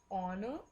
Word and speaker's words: honor: Again a utensil, again I have already told you the example of R, again it is given here, and R and honor, o honor, o आ रहा है, right?